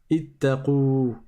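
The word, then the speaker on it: اتقوا: Parce que le alif, il compte pas. Il s'écrit, mais il ne se prononce jamais. Ittaqou.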